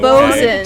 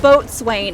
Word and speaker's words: boatswain: bosun. Tell someone. Bosun, I'm- not boatswain. It is bosun.